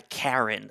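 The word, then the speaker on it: KaRIn: normally when you hear someone talking about a Karen it's a bad thing but I believe on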